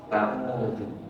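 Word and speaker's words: أعوذ: Berikutnya lagi kita baca bunyinya apa? Audu. Jelas ya. Yang kedua, yang ketiga, yang benar mana? Yang benar mana? Semuanya benar. Karena semuanya bahasa Arab loh. Semuanya bahasa Arab ini ya. Musawah audu pakai dal ya.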